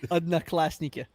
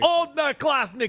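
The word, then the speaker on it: Одноклассники: Odnoklasniki. It is the most inefficient language that's ever existed. Odnoklasniki.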